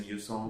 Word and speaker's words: Eusong: My name has been always tricky, but the pronunciation kind of goes like, I think it's called the Eusong. A lot of people know me as Eusong. That's like how it's written, and then it's spoken as a song.